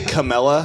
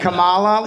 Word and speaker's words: Kamala: was last time wa did you say Camella you say I think the rule is if you can't pronounce the candidate's name you shouldn't be able to vote for him what what do you call it Kamala what yeah that was that's that's better that's better okay that